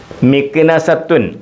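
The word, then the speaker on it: مكنسة: Bashkir towel Bashkir towel മിക്നസത്തു അതായത് മിക്നസ ഈ താത ഉച്ചാരണം കൊടുക്കത്തില്ല അറബിൽ തന്ന കൊടുത്തന്നേ ഉള്ളൂ ഈ തായിനെ ഉച്ചരിക്കത്തില്ല മിക്നസ മിക്നസ ചൂൽ മിക്നസ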